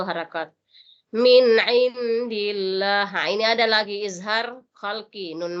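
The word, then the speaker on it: من عند الله: Jadi bacaannya tipis ya, bukan min indillahi, tebal enggak boleh. Jadi bacanya tipis, min indillahi. Seandainya di sini baris fathah, bisa tebal, indallahi, itu tebal. Kalau indi itu tipis.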